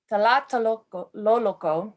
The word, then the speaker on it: Tlatelolco: A 1976 graduate of Escuela Tlatelolco, I know I mispronounced that, we even practiced it, Tlatelolco, he participated, supported, and worked firsthand alongside his